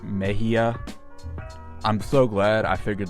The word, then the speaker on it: Mexia: So, apparently it's not pronounced Mexia, it's pronounced Meia.